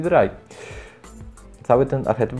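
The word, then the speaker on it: Drei: Oni w ogóle nie czają, że to jest z niemieckiego i czytają Sway, Dray. Jakie Sway, Dray? Spy i Dry.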